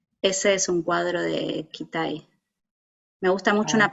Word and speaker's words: Kitaj: Me encanta un pintor que se llama Kitaj, se escribe Kitaj, pero se escribe Kitai, R-B, Kitai, y que uno de